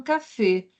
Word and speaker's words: café: j'adore le café ici observe que la prononciation c'est au contraire en portugis on dit cfé OK mais en français l'accent aigu comme ça il est un fermé les café les café donc observe ici on